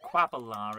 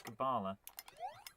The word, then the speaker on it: Kabbalah: Although we called it Quabalar as a kid because we didn't know how to pronounce Kabbalah.